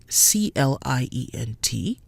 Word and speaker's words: client: So the word for customer, CLIENT, is pronounced client because the I is in a separate syllable from the EN. EN in its own syllable is en, giving us client.